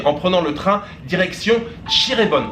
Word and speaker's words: Cirebon: prenant le train direction chirebon ça sécrit Cirebon mais ça se prononce chirebon je ne connais pas